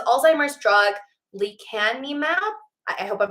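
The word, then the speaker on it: lecanemab: a while now um it says Alzheimer's drug Lee can me map I hope I'm pronouncing that right um it's l-e-c-a-n-e-m-a-b slows cognitive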